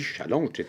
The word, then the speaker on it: challenge: mon dieu ce que challenge est un mot français alors prononcer le en français ne mettez pas une patate churros dans la bouche pour le prononcer on s'allonge c'est comme ça qu'on dit alors du coup on dit Chalon donc en fait l'idée